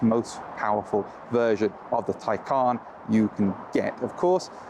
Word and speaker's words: Taycan: So this is the Porsche Taycan, not the Taycan, not the Toucan, nothing like that, Taycan.